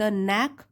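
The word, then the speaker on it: knack: seem to have the नक फॉर इट यहां पे के साइलेंट है नेक नेक फॉर इट व्हेन इट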